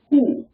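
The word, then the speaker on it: הוא: The word for he, H-E in Hebrew is who.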